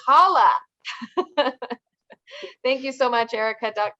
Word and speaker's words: Halle: I was going to say Halle. I was going to pronounce her name wrong. Can you believe that? It's Halle.